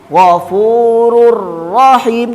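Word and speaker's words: غفور رحيم: Maka cara bacanya pasti dimasukkan ke huruf setelahnya tanpa mendengung. Contohnya Ghafurur Rahim, kan masuk huruf setelahnya.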